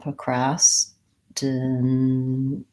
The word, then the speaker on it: procrastination: to add procrastination procrastination I have a different syllable stress than my nay gets stressed so procrastination still has the up procrastination short short short long short procrastination and for any longer